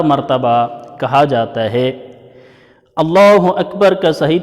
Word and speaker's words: اللہ اکبر: اکبر، جس کو 4 مرتبہ کہا جاتا ہے۔ اللہ اکبر کا صحیح تلفظ اللہ اکبر۔ اگر اس کو ملا کے